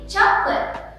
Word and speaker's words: chocolate: we have this word so many people saying chocolate but it should be chocolate remember again the right one is chocolate there are two syllables there chocolate not chocolate but